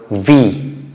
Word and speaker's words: wie: question with this WFLA or W family word V how do you pronounce it V I have written three questions in English as